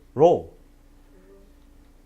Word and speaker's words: rho: I said ro. Ro is RHO.